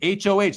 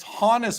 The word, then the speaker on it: Honus: And it said it said to me, it said it's it's ho like ho. Like it's honest, right? And then and then I said, "Are you sure?" And it said, "Actually, thanks for checking me on that. It's not. It's Hannis Wagner."